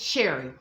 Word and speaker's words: Cherry: Even though it's spelled cherry, it's just Sherry.